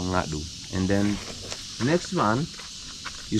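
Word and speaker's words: Ngadhu: dialect we call NAU to spell it n g a d h u to pronounce we we said and then this is what they call Nadu and then next one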